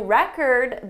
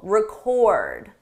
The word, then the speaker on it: record: We need to record a new record this week. The difference depends on syllable stress. With the verb, the stress is on the second syllable, record, record.